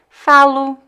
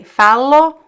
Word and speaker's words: falo: of words, when it's an unstressed position, can be pronounced as a weak U. So I would say falo, quero. It sounds like a weak U. It depends on the accent. Some people would pronounce O. So you can say falo or falo. Both ways are correct.